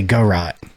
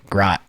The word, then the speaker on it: garrote: British say go rot. Americans say grot.